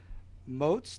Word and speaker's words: Moats: And then also we have Pamela Moes. Did I pronounce that correctly?